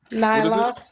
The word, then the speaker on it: Nyla: say it either to mess up your name pronounce it Nylock Nylock Nylock yes thank you thank you we